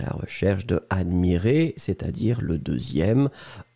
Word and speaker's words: admirer: attention encore une fois on va prononcer les deux je regarde oui le premier admirait qui monte et le deuxième admire et qui descend d'accord admirait admirer vous